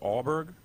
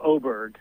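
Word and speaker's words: Åberg: So, I don't know how you pronounce his name, but the Swiss guy, is it Aberg? Oh, Oberg.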